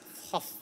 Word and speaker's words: Thoth: Try and pronounce that. Thoth.